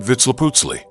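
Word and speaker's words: Vitzliputzli: The name given to this being may be expressed by a combination of syllables that approximate vitz leaputsi. Vitz leaputzi was a human being.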